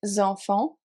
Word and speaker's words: enfants: Les enfants, the children, T and S at the end of enfant are silent as well.